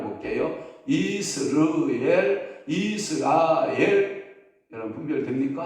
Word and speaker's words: 이스르엘: 축복받은 자녀가 될 거야라고 말씀할 때 이스라엘 근데 이스르엘 이것은 하나님이 허한다 이런 뜻을 가지고 있다라고 하는 거예요 그러면 이스라엘의이 음과 거의 여러분들이 분별이 앉을 정도로 자제가 다시 한번 발음해 볼게요 이스르엘 이스라엘 여러분 분별 됩니까 아 제가 보니까 거의